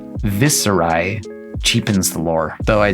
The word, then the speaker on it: Viserai: social media, and so I choose to pronounce his name with a Z instead of an S. Viserai cheapens the lore, though